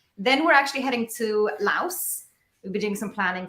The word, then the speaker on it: Laos: it with an S because in French the S is silent so it's actually Lao so yeah I've heard